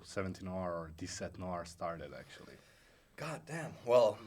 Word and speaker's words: 17noir: Is it supposed to be like this set Noir?